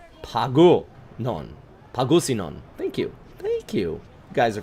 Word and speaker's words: Pangasinan: Shane says it's pronounced Pagusinon.